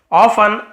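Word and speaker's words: often: ऑफन अक्सर यहां पे टी साइलेंट है। ऑफन नहीं बोलेंगे। ऑफन बोलेंगे अक्सर।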